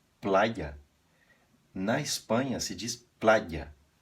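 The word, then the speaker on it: playa: na Espanha se diz plaia aqui esse Y tem o som de consoante você faz um I pressionando a língua no céu da boca e depois solta outra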